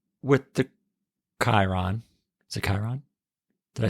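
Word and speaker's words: Chyron: Is it Chiron?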